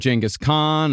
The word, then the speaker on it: Genghis Khan: done, huge series on like ancient Rome and Genghis Khan. I'm going with your pronunciation.